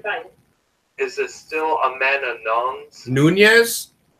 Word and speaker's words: Nunes: Is it still Amanda Nunes? Nunez? Nunez? That's how we're pronounced.